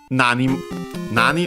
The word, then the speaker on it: nani: And yeah, after that, still, actually, nani on its own, accent on the first syllable.